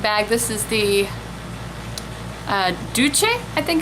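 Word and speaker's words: Doucce: this is the uh du I think it's how you pronounce it d o u c c e du du um bombastic lash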